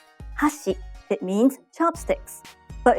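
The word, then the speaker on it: 箸: example if you say hasi it means Chopsticks but if you say hash it means Bridge let's hear the difference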